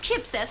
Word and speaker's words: Kipps: spelled that way I you say it not Q wipes no you pronounce it Kip s before I see anyway